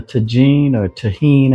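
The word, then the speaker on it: Tajín: I'm using the tahine as they pronounce it.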